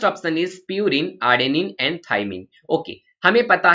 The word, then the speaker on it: thymine: थाइमीन, THYMINE, this is pronounced as थाइमीन, और ये थाइमीन इज a nitrogenous base.